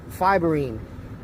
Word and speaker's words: Fiberine: And by the way, it is pronounced Fiberine.